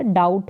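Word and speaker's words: doubt: संदेह करना डाउट करना यहां पर बी और टी साथ में आता है तो बी जो है साइलेंट रहेगा डाउ बी का उच्चारण यहां पर नहीं हो रहा डाउट हो रहा है बी यहां पर नहीं पढ़ा जा रहा है सू सिलाई करना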